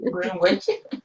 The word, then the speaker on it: Greenwich: Greenwich. Exactly. Where's the W, Greenwich? Then why is it there?